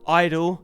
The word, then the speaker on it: (G)I-DLE: are going to be doing Idol silent G oh my god if